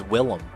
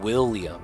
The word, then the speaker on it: Willem: No, there's no A, so it's Willem. I was saying William.